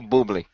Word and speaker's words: Bublé: I love hearing Jim pronounce Bublé. That's awesome. Bublé. Yeah, it sounds like you're saying bubble incorrectly.